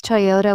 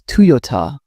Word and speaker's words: Toyota: Some pronounce Toyota with stress on the first syllable. In Japan, it's Toyota with equal balance.